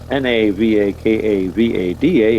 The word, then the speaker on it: Navakavada: That's Navakavada. It's spelled just like it sounds.